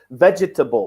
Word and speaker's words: vegetable: a lot of people would put four syllables vegetable but it's three syllables let's double what triple